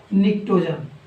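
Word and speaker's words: pnictogen: इनको ध्यान से देखिएगा दोस्तों, इसके स्पेलिंग में पी साइलेंट है, निक्टोजन। और इसी तरह से जब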